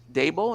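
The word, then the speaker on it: Daboll: able to under um dabo is how you pronounce his name yeah who you know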